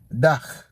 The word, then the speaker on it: dach: Dach.